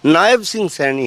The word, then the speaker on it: नायब सिंह सैनी: और जहाँ तक नायब सिंह सैनी की बात है, उनका एक्चुअल उच्चारण नायब सिंह सैनी है।